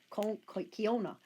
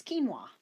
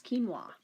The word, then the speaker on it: quinoa: It doesn't sound anything like what it pronounces.